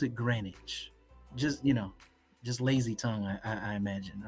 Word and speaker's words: Greenwich: It is February, and it's spelled Greenwich, but they pronounce it Greenwich.